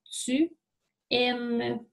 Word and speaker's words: tu aimes: Au présent, alors tu aimes. Alors, lorsque on emploie un verbe employé avec le pronom tu, on doit mettre un S à la fin, mais qu'on ne prononce pas.